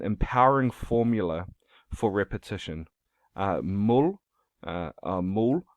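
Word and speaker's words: ਮੂਲ: formula for repetition mul mull pronounced to rhyme with the english word pull means root it is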